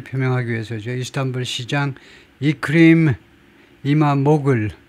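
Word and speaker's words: İmamoğlu: 위해서죠 이스탄불 시장 이크림 이마 모글 글루가 아니고 모글 정도로 발음한다고 그러네요 이크 이마 모글인 이스탄불데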